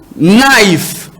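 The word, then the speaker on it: knife: ingénieur ça est là on écrit naif ça commence avec K mais on lit pas ça on lit naif ça se prononce naif répte après moi naif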